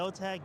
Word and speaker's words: Zotac: You've been saying it wrong. So, what is it? It is a Zotch Gaming GeForce RTX 570 solid OC.